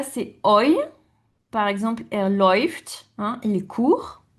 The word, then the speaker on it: läuft: Par exemple, er läuft, il court. Donc on prononce oi.